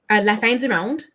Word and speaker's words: La Fin du Monde: And pronounce it properly. La Fin du Monde.